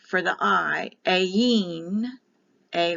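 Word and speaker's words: Ayin: this is the 16th letter for the I a Yin a y i n or a i n a e remember the I is pronounced like an e it can be written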